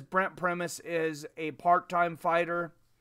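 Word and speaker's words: Brent Primus: you are correct seven it's actually pronounced premise Chael Sonnen corrected me here recently I thought that a it is not Chandler Chandler lost his championship to brent premise he had kind of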